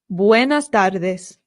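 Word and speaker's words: buenas tardes: So we say buenard. It's important to note that one R in Spanish does not roll. It's only with two Rs. So, it's not buenard, it's just buenard.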